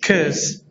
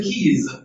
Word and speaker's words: keys: Kiss. What is the name of the objects for opening doors in plural? Kiss. You say? Kiss. Again? Kiss. Kiss. Kiss. Kiss. Correct. We say keys, right? Keys.